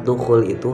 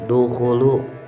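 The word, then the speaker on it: دخولُ: Di dalam kalimat dukhul itu harusnya dukhulu, bukan dukhuli. Dukhulu.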